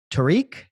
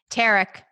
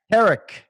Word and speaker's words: Tarek: Tariq? Tarek. Tarek. Say it's spelled like Tariq.